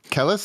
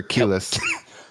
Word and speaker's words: Kelis: Kellis or Kelis?